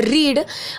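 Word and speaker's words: read: पढ़ने की इंग्लिश होती है रीड, और इसके सेकंड और थर्ड फॉर्म को हम बोलते हैं रेड, लेकिन स्पेलिंग जो है वो बिल्कुल सेम होती है, यानी कि इसको हम पढ़ेंगे रेड, ठीक है, लेकिन लिखेंगे रीड की जो स्पेलिंग है वही।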